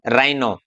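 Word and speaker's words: rhino: रहेगा, जैसे इसको बोलेंगे हम राइम, रिदम, राइम, राइनो। ऐसे ही है। एक्स के बाद में एच साइलेंट है, एग्जिबिट, एग्जॉस्टेड।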